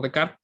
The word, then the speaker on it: Descartes: desarrolladas por pecar bueno se escribe descartes pero donde desarrolladas por de carl él utilizó este par